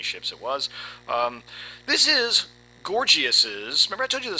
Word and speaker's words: Gorgias: Everybody loves to try to pronounce the name different ways, but as best as I can determine, it's Gorgias.